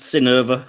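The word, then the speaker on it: Synnøve: It's pronounced Synnöve Carlson, apparently.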